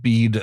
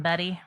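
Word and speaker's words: Bede: so bead AKA Saint bead the venerable it's be D seems to you want to call him Betty I know but it's bead it is I checked it is pronounced be um seems to be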